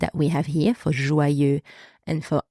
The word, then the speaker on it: joyeux: And finally, important, we have the letter X. And this letter in that word is silent. So you do not pronounce it. The final X is silent.